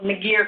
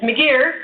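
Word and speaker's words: McGeer: used since 1991 there was a thing called Miggy R criteria which almost you know many percent of people pronounce it correctly because we all want to put our in it right career but it's m'dear criteria that started using that in 1991 it's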